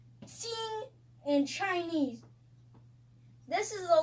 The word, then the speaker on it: 睛: Now I will show you how to pronounce jing in Chinese. Ji ying jing jing